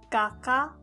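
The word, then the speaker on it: がか: This is ka. But if you add the mark, it becomes ga. We now have a new word gaka which means painter.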